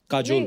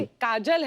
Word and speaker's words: काजोल: बड़ा यूनिक नाम है आपका, काजोल। काजल है ना, but काजल होता है, काजोल हाँ, मतलब बंगाली में spelling है, काजोल। बंगाली में ऐसे बंगाली में लिखते हैं। ऐसे उसका प्रोनाउंसिएशन है पर बड़ा अच्छा लगता है काजोल।